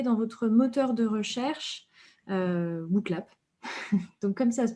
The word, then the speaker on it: Wooclap: Et je vous invite à taper dans votre moteur de recherche WooClap. Donc comme ça se prononce, WOOCLAP.